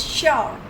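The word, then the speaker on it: sure: In some words, S gives the sound of sh. जैसे शुगर, S-U-G-A-R, शुगर आपने English के chapter mini bake brownie में किया था. ऐसे ही यहाँ भी S की साउंड श आ रही है.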